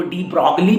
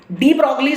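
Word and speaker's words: de Broglie: हालांकि लिखने में जब बात करते हैं तो उनको डी ब्रॉगली प्रोनाउंस करते हैं, जबकि जी साइलेंट, तो डी ब्रॉगली आए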